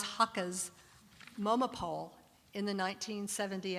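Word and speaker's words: Haacke: this period is hans heike's and i never say his name right is that right thank you hans hakka's moma poll in the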